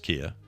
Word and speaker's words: Kia: then I said well what about Kia and he says no it's just Kia there's nothing weird there so all everyone who thinks they're saying Kia right you are saying it right you're fine interesting CED